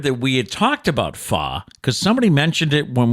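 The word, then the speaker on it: pho: do have to confess this morning I tried far without you and and why is it called it's spelled p-h-o but it's pronounced so I'm so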